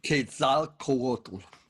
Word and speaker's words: Quetzalcoatl: I never know if I get it pronounced. Quetzalcoatl.